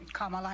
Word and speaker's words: Kamala: Let's, Kamala, and I'm calling you Kamala because for all of those who are mispronouncing it, I want you all to know how to say it.